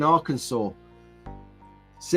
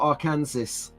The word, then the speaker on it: Arkansas: Nathan's uh 230 in Arkansa see how I pronounce that right Arkansas not Aransas so uh Nathan has